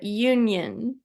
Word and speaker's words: Jungian: You're going to have to help me pronounce that because I've been trying to say it, but Jungian. Jungian. Jungian. Yeah. Okay. Jung is the German word for young, actually.